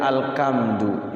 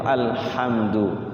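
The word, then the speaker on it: الحمد: kekal Allah itu abadi apalagi dibacanya alkamdu ya alkamdu itu lillahij jadi belek mata milik Allah Enggak mungkin kan Allah memiliki belek gitu yang tepat itu alhamdu jadi yang ketiga pr-nya adalah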